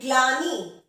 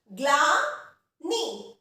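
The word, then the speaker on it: ग्लानि: ठीक है, एक शब्द हम लेते हैं ग्लानी। क्या लेते हैं, ग्लानी। तो इसका उच्चारण भी ध्यान से देखेंगे कैसे किया, ग्लानी, ग्लानी, गलानी नहीं, गलानी नहीं, ग्लानी, ग्ल, यानी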